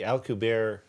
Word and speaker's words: Alcubierre: The next stop is the warp drive with the I always pronounce his name incorrectly, the Alcubierre warp drive.